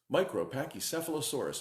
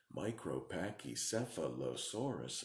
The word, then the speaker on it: Micropachycephalosaurus: the longest dinosaur name, Micropachycephalosaurus. How many syllables is that? Micropachycephalosaurus. 9 syllables.